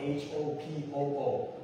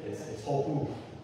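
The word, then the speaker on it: Hopoo: So it's not Hopo, it's Hopu, but it's spelled that way.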